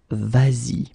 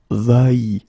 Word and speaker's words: vas-y: to modify it and put this s here just to get the sound vas-y instead of va-y.